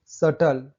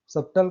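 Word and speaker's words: subtle: सटल, सब्टल कहाँ पढ़ रहे हैं, डेट।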